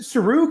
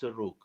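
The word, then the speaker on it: Serugh: Jacob of is it Sarug or Saruj? How do you pronounce that? You could say it in either way. It's okay. Okay, what are your thoughts? The Syriac way is Suruk.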